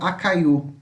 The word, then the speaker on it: acaiu: E caju a gente pode traduzir como acaiu, tá? Novamente, ó, aqui é um tritongo, né? Acaiu, né? São 3 sílabas, ó, tudo junto, tá?